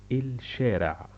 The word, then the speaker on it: الشارع: La strada, la lingua araba, si pronuncia il shera, il shera, il shera.